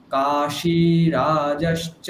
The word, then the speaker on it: काशीराज: কাশীরাজশ্চ বীর্যবান। काशीराजश्च वीर्यवान् কাশী ওটা তালব্যস্বয় দীর্ঘ, হ্যাঁ? তাহলে কাশীরাজশ্চ বীর্যবান, বলুন। काशीराजश्च वीर्यवान् রা জ, काशीराजश्च वीर्यवान् ঠিক। দুটো লাইন একসঙ্গে বলছি। ধৃষ্টকেতুশ্চেকিতানঃ কাশীরাজশ্চ বীর্যবান, বলুন।